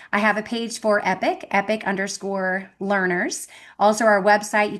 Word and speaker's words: Epoch: It's not spelled like epic, like rad. It's EPOCH, the Waldorf word epoch, which is translates to a significant time in someone's life.